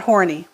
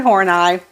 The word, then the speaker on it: Horney: name right all right it is not it's not horny please don't call her Karen horny that is Karen horneye and as a woman